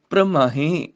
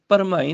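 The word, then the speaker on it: ਪ੍ਰਮਾਹੇ: ਕਈ ਕੋਟ ਪ੍ਰਦੇਸ਼ प्रमाहे, इत्थे भी बिंदी नाल उच्चारण है। कई कोट प्रदेश प्रमाहे, परमाहे नहीं प्रमाहे, जिवें श्रम बोलिया उदां ही भ्रम, एक भरम एक भ्रम, ये भ्रम वाला भ्रम है प्रमाहे।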